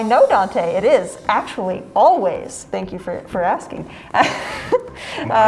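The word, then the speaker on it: Alvvays: It is spelled with 2 V's, not a W, but it does indeed say Always.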